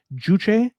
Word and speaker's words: Juche: Juche. No, that's how do you spell that?